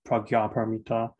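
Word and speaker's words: prajñāpāramitā: called a project which in nepal is usually pronounced pragya paramita or perfection of wisdom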